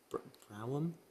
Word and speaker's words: Brougham: I'll accept that, yeah, it's usually pronounced Broom, but Morm and Broom is what I was looking for, you're right.